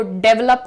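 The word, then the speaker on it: develop: कि हमारे देश को डेवलप करने की जरूरत है हमारे माइंडसेट को डेवलप करने की जरूरत डेवलप कुछ नहीं होता है जो प्रोनाउंसिएशन है ध्यान से देखिएगा यहां पर आपको कहना है डिवेलप डी वेल अप डिवप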